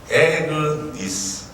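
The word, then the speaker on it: Agnes: 아그네스. 더 정확하게 표현하면 에그니스. 이것이 더 올바른 발음이죠. 에그니스. 이 말은 어린 양이라는 말입니다.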